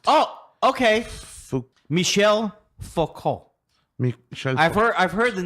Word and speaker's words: Michel Foucault: Alex says the reason that he picked this guy for you, who he picked, is Michael Foucault, pronounced Oh, okay. Fou- Michel Foucault.